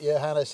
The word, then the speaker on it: Johannes: Yeah, Johannes. Pronounce right.